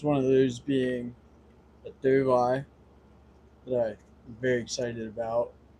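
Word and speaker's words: dovii: One of those being a dove eye that I'm very excited about. I Okay. got a a dove eye, Dovi.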